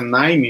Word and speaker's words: KNIME: Então, o NIME, a pronúncia é NIME mesmo, tá? Então, apesar de se escrever aqui NIME, mas se fala NIME, ele é uma ferramenta